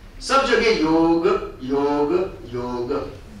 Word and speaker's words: योग: ध्यान लगा ले कि इसका जो उच्चारण है जो सही प्रोनंसिएशन है वो योग क्या योग योग नहीं भारतीय संस्कृति में 3